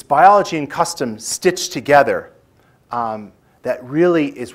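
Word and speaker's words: kastom: what i learned as custom now that's not a misspelling k-a-s-t-o-m not like country kitchen but that's really how you spell it and custom is more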